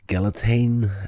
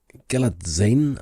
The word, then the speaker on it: Galitzine: Nicholas Galitzine, I don't know if that's how you pronounce his name. I've heard it been pronounced like that. It's Galitzine, it looks like, but I've heard people saying Galitzine as if the Z is silent on there.